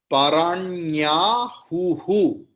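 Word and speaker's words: पराण्याहुः: Then Indriyani paranyahuhu. After who, please split it, and before that, after who, please put visarga. Then visarga's pronunciation will be like ha, who.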